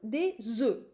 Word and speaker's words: œufs: Actually, it becomes des œufs, like Z-I, des œufs in plural.